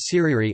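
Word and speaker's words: tirere: these stick dances or Thierry pronounced Seri are performed only during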